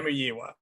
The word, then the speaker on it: Famuyiwa: Famuyiwa, I think, is how you pronounce it. Famuyiwa. Okay. Famuyiwa is how you pronounce the last name.